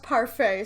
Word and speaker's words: Parfait: it sounds like, but she has told me it's pronounced Parfait, so no T at the end, and I'm assuming with